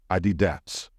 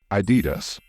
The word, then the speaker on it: Adidas: it correctly some non-native speakers tend to stress the last syllable in this word and say adats however that's not correct the stress in this word should fall on either the first or second syllable so it should be pronounced in two ways adidon or Adidas both options are correct they're they're like Adidas